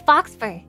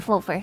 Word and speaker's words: faux fur: It's fox fur. Oh, sorry. I mean faux fur. I always forget how to pronounce that.